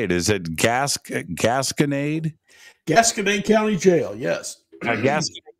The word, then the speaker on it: Gasconade: Is it Gasconade? Gasconade County Jail, yes. Gasconade County Jail. So I've got three or four clips from there. Mm-hmm. And some of them aren't playing. But I have fourth Gasconade investigation.